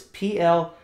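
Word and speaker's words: πλήθω: And the anglicized or English letter form of that Greek word is P-L-E-T-H-O. Pletho is what it looks like to be approximately pronounced as.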